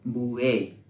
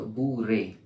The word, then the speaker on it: Bourrée: आज हम लोग हमारा एक नया सॉन्ग सीखने जा रहे हैं जिसका नाम है बुए। हालांकि ये फ्रेंच प्रोनाउंसिएशन है। अगर इंग्लिश में बोले तो बुरे।